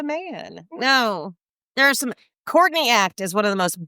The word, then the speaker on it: Courtney Act: So if you actually say it like you're a it's Courtney Act caught in the act, you see you see it's a great name.